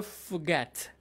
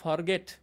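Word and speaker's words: forget: খেয়াল করবো গয়ের উপরে একটু জোর হচ্ছে। ফুগ্যাট, ফুগ্যাট, ফুগ্যাট, ফুগট, ফুগটন, ফুগ্যাটস, ফুগ্যাটিং। শুনে শুনে নকল করার চেষ্টা করি। এটা কিন্তু বাংলার ফরগেট, এভাবে বলবো না। ফরগেট, ফরগেট, ফরগট, ফরগটন, don't say this way, right?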